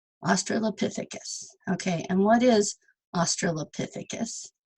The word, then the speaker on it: Australopithecus: Okay, so it's Australopithecus. So the P is the strong syllable. And they actually have this little thing where you can... Australopithecus. Australopithecus.